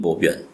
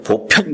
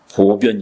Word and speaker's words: 보변: 말이 참 맞거든요 불신 보변 부처님 몸은 보변 아다 그 변이라는 건 불교에서 읽는 발음이에요 보통 발음으로는 편이에요 보편 근데 불교에서 보편 그러면 쫓겨나요 그러 큰일나요 보변 이래야 돼요 그게 불교만이 독특하게 읽는